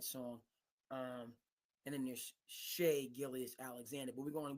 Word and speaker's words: Shai: a time you know whenever I see his name it's pronounced Shay but it's spelled Shai and those 80s babies